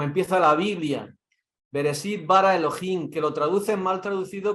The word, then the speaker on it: Elohim: Lo que viene a decir los aljín, porque aljín es otra forma de pronunciar Elohim.